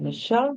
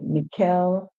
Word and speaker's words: Michelle: And Michelle here is like Michelle Obama, as in the past president of the United States, Obama, his wife, Michelle Obama. So that is the most popular pronunciation for the word Michelle. Okay? But other persons might pronounce it different. They might say Mikel, Mikeli, different pronunciation, guys.